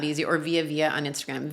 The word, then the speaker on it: Vija: Or Vija on Instagram. Vija is spelled V-I-J-A. The J is like a Y.